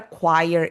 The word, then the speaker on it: choir: Do you know what a choir is? Se escreve assim, ó, Choir.